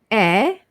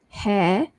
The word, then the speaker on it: heir: Next one, silent H for HEIR and HOUR. So it's air, air, and hour. So it's not hair or hour.